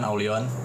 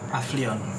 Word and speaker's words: AVLION: Ini jelas lah ya tim tuan Aulion. Ini mungkin banyak yang nggak bisa baca nih tulisannya Aulion nih, karena dia kan AVLION kan. Ini pasti banyak yang bacanya V nih. Aflion. Iya, misalnya Aulion ini.